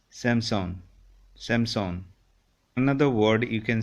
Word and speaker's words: Samsung: We say Samsung. Actually, it's not Samsung. It's Samsung.